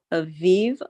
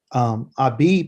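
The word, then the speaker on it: אביב: So when we look at Aviv, that's the Ashkenazi European way. It's Aviv. Okay. Abib is the Abib.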